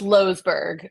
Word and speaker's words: Loesberg: luberg losberg it's pronounced losberg but yes yes I no I I'm not Dutch but a lot of people think I'm Dutch and that is how the Dutch say it so okay you are